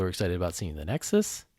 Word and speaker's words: nexu: excited about seeing the nexus is that how you say his name then the nexu the nexu i think nexu my bad uh i actually just